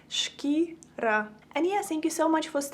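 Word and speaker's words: шкіра: So if you want to say skin in Ukrainian, you would say it like shkira, shkira.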